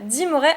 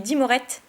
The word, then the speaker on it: Dimoret: Génial, Dimoret en rare. Et je me moque toujours de Nejan quand il prononce ce Pokémon, parce qu'il dit Dimorette.